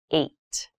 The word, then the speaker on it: eight: is the number h this has an interesting spelling it's pronounced eight eight is a lucky